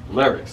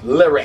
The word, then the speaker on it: Lyrix: That's how you pronounce it. Lyrix. Lyrix.